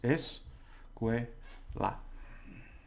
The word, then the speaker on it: escuela: So we've got 3 syllables. Es, que, la. Okay. Es, que, la. So once that's 3 syllables. So you say es. Now the stress is on the second to last syllable, which is que, and then la.